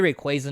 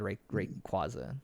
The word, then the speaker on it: Rayquaza: say raiku and then I say Rayquaza now because that's proper but I don't know who in the right mind or none of my kids are none of my friends rather but my friends weren't very smart um we all said Rick and quasa not what not Rayquaza wait how is it